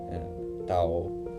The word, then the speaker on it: Thao: I really appreciate Tao, all right? I'm really happy that I can finally pronounce it correctly.